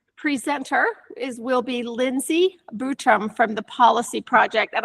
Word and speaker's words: Butrum: Um, I am Lindsay Butram.